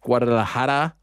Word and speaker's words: Guadalajara: the UFC, the one and only pride of Guadalajara. Am I pronouncing that correctly? I feel like I'm messing it up. You got it. Yeah, I got it. Guadalajara, wow.